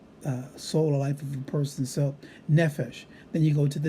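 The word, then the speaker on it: נפש: It shows you the accent over the noon, indicating that the stress is going to be on the first syllable and not the last syllable. Without such a mark, we always put the emphasis or the stress on the last syllable. When we see that, it puts it on the first, we would say nefesh, not nefesh.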